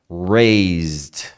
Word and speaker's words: raised: coisa né Raise Rais você desliza no s raised raised é um som de D também raised raised é um